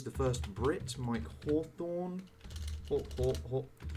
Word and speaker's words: Hawthorne: Hawthorne, if I spell it. Hawthorne, not Thron. Thorne, there we go, Hawthorne.